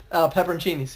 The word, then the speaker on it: peperoncini: full of green peppers the correct pronunciation is pepper on Sini's peperoncinis yeah yeah I told banana peppers are a separate thing you am petrosini's normally in the u.s.